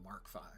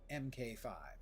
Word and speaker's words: MK5: But now that I have the tier 5 welding tool, the Mark 5. MK. The number of streamers who keep saying MK5. That's 2 syllables. The word mark is 1 syllable.